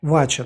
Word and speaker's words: Вача: типа в нижегородской области произносятся он вача то есть ударение на а дальше что такое труд